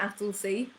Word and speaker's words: Attlesey: directly, my name is Attlesey, which is spelt like Attle, like battle, and then S-E-Y.